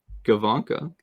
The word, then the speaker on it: Gawanke: We looked this up to pronounce it correctly. Leon Gawanke.